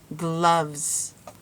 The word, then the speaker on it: gloves: That E is silent. Gloves.